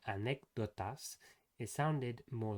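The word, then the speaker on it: anécdotas: In Spanish, it's not like this. It's actually more dental.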